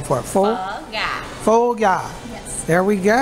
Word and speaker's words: phở gà: Phở gà.